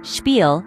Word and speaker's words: Spiel: So, spiel is pronounced as spiel and stat as stat.